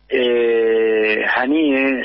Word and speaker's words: Haniyeh: Ismael Haniyeh, al matar a Ismael Haniyeh, Haniyeh, así se pronuncia, no solamente han matado al líder de